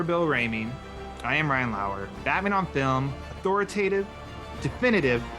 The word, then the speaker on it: Lauer: You can follow me on Twitter at Lauer_Ryan, Lauer spelled like lore.